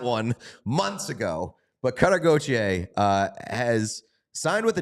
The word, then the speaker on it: Gauthier: fresh a name that we do know cutter goer we've learned we've learned how to pronounce that one months ago but cutter goer uh has signed with the Ducks but more